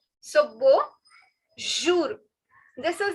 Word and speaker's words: bonjour: Now the word for hello is bonjour. Bonjour. Bonjour. Now, as you can see, this N, I'm not stressing on this N because it has a nasal sound. All right, nasal sound. So, bonjour.